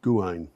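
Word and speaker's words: Gwaun: guard is Auber Guan uh gwu n is pronounced Guan in Wales transition bro Guan put up a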